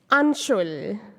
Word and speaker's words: Anshul: not Sanjay or Sanjay the other is anshul to the rhyme of bull now she will take